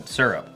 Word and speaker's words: syrup: like oh my God Maine got the one syllable I mean they probably do because I grew up with the one syllable because I I say certainly I've had to like relearn because the chat just rips me and they're like it's two syllables I'm like syrup syrup